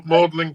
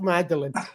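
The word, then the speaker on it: Magdalen: I don't even know what to expect oh mlin College mlin college that's how you pronounce it mlin not magdalin the Brits you call it mlin oh yeah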